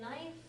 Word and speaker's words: knife: no do we still pronounce the k in knife no does anybody spell knife